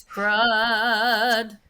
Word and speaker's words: crud: a good word and it rhymes no it doesn't rhyme with turd it's crud there's a little song i wrote for you unless you're using the dialect which is curd and then it does right that's why i